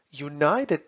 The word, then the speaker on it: united: like the word United United begins with the consonant sound of the letter Y or yeah United and